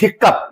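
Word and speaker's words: hiccough: हम लोग लिखते हैं हिकप या हिक्कप तो ओ यू जी एच से भी अप आ रहा है और यूपी से भी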